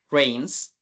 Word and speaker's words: rains: Para no decir if it, sería if it rains. Acá lo pronunciamos como si hubiera una E en lugar de la A.